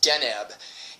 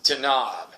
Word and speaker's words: Deneb: looked online and the woman's like well it's pronounced denb and you know I talked to the galactics and they're like no it's not it's danob is how they pronounce it and that's the